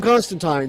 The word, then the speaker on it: Constantine: the second one is that's the british pronunciation all through it they call him constantine so i've just watched